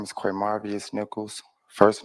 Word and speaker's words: Quamarvious: do it again all right slow down name spell it for this young lady right here okay my name is qu marvus Nichols first name QA m a r v